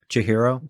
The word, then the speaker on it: Chihiro: Chihiro.